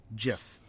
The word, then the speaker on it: GIF: get decade-long debate uh-huh both gifts and the peanut butter are pronounced jiff got it so let